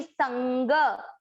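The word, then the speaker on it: सङ्ग: अब ये जो अनुस्वार है जिसको अनुनासिक बोलते हैं, जो नाक से न बोला जाता है, तो इसको बोलेंगे संग, संग। देखिए न आप बोल के देखेंगे ना तो आपको न नाक से नहीं आएगा, संग, मसंग।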